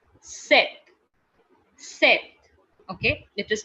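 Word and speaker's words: sept: guys that is scpt the p is silent there okay and it is pronounced like you know set set okay it is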